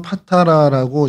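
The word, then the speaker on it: Patara: 어, 이것이 이제 헬라어로는 파타라고 이제 발음을 하는데 이제 우리 성경에냥 바다라고 어 기록이 돼 있습니다.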